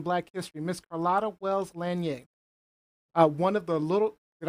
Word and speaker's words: Lanier: living icon in Black history, Miss Carlotta Wells Lanier.